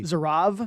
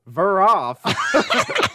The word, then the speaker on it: Zeraph: long as you don't pronounce it with a V like that. There's one time someone pronounced it with a V. Zerav? No, Zeraph.